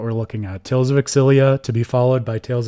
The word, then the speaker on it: Xillia: talked about the games they always say Tales of exilia I have been reading it phonetically in my head for as long as I could remember as Tales of zilia for whatever reason so